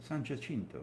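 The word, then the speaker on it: San Jacinto: Sanchinto.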